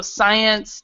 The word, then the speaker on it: science: of times with SC, words with SC, like for example, a science, a scene, we actually do not pronounce the C, or we don't pronounce the S, whichever one you want to say.